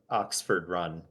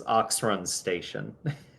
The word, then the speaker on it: Oxrun Station: Like just over the the I totally butchered. Sorry, I just realized I butchered the name of the town. It's it's Oxrun Station.